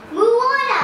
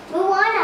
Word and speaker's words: Moana: itana muana there you go MO mua yeah Moana no munana no yeah no Moana no munana no Moana we're going to go